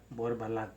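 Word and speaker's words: Borbalán: The accent on the last A, Lan, Borbalan.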